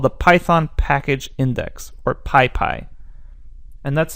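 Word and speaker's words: PyPI: So most packages that are worth downloading can be found on what's called the Python Package Index, or PyPy. And that's spelled P-Y-P-I.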